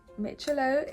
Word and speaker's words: Miccilo: I literally made sure I researched how to pronounce it mitchello is a foundation brand they sent me three